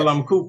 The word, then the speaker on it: Balamku: book that was published by Balamku, am I pronouncing it? Balamku Press, yes.